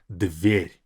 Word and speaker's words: дверь: And this word дверь, I would say, is very hard to pronounce because we have this concept of soft and hard consonants in Russian. This letter D is hard, but this V and R, they'll be soft.